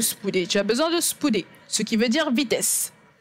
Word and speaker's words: spoude: la personne à écrire spouder. Et tu lui dis, j'ai besoin de vitesse, j'ai besoin de vitesse. Cela s'appelle Spoude, S-P-O-U-D-E, et on prononce cela S-P-O-O-D-Y, spouder, qui en français veut dire vitesse.